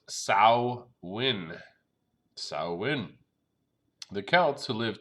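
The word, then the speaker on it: Samhain: to the ancient celtic festival of some hunt pronounced sal win saawan the Celts who live 2,000 years ago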